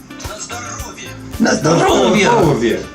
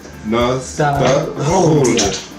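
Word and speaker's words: на здоровье: Nazdrovia. The accent on the second word is on the second syllable. I'll say it slow. Nazdrovia.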